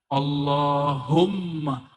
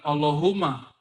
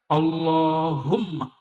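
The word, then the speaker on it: اللهم: Gimana cara bacanya? Allahumma. Bukan Allahumma. Allahum. Dia mesti ditasdidkan. Allahumma. Ya. Dan dia harus idgham, ya.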